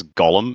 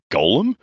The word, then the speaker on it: Gollum: And that's Did you just Did you just pronounce Gollum as Golem? Did I Did I say Golem? You said Golem.